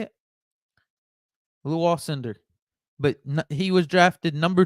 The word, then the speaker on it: Alcindor: When the commissioner said his name, Lou Alcindor, I believe it is how you say it. Lou Alcindor.